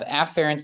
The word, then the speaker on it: afferent: do in lecture generally the pronunciation of these is Affair and efferent which sound almost identical I will exaggerate the sound of the first vowel so that it's afferent and efferent uh just to make